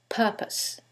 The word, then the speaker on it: purpose: syllable that's stressed, and in the second one, it's the first syllable, and that changes the pronunciation completely. The first word is propose, and the second word is purpose.